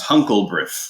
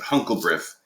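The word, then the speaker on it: HONClBrIF: them and it's h-o-n-c-l-b-r-i-f which i pronounce huncle brit which is just kind of a funny way of doing of saying it there's a couple other different ways of saying it but huncle breath is a way of remembering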